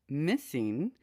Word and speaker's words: MSSNG: The MSSNG project, pronounced Missing, is the search for those answers, and we're going to find them, said Liz Feld, president of Autism Speaks.